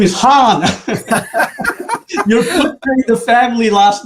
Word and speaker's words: Han: the introduction so again my name is hand but if we just step back that is really not technically the correct pronunciation my last name is Han h-a-n but